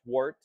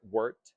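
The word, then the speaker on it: wort: what we call wart w r t not pronounced wart but wart if it was like an e wart is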